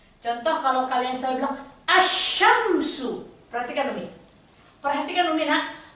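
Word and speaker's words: الشمس: Asyamsu. Lihat. Asyamsu. Asyamsu. Tidak pernah orang baca al-syamsu. Tidak pernah. Alif lamnya dihilangkan. Langsung masuk ke huruf setelah alif lam.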